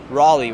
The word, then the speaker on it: Raleigh: it Raleigh or how do you say it Raleigh Raleigh we're go Raleigh station we got lots